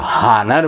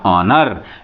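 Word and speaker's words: honour: य आर नर बहुत से लोग जो है हनर बोलते हैं लेकिन नहीं ये क्या है नर का सेंस लि दिया जाता है ऑनर य आप देखेंगे य एच एन एसटी अधिकांश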